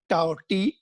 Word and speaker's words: tau: जैसे ये है, इसको टाउ पढ़ते हैं. अभी तुम्हें प्रोनाउंसिएशन में प्रॉब्लम हो सकती है. टाउ, TAU we call it है ना.